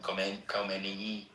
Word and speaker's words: Khomeini: How you pronounce it? Khomeini.